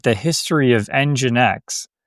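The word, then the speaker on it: nginx: like the history of EngineX, so EngineX, it's spelled NG I NX.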